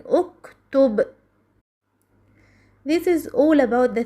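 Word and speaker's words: اُكْتُبْ: But if the third letter has a Damma, so Hamzat al-Wasl takes Damma, as in uktub.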